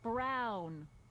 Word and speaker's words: Brown: bill to a te that's EMT Brown rhymes with clown which I'm beginning to